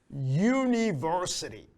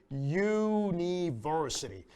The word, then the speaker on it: university: But here it sounds like a Y, okay?